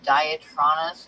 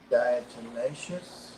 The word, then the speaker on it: Diatomaceous: that um I can I can't pronounce this diatronus Earth or something like that Diatomaceous you know what I'm talking about is it Diatomaceous yeah yeah it's a